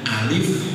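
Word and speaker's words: ألف: ini yang tanpa pakaian jadi sebutannya Alif yang agak panjang Karena menyebutkan nama bukan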